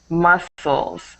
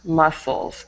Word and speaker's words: muscles: see the next was muscles muscles So when you say the word muscles even though there's a c in it we don't pronounce that c so it's just muscles muscles okay perfect and